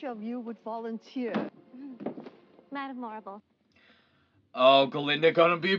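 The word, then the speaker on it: Morrible: Madam Marble, it rhymes with horrible.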